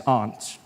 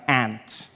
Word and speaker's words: aunt: For instance, I pronounce the opposites of uncle as aunt. I say my aunt. Out here, you say my aunt, which to me is an insect, which made me look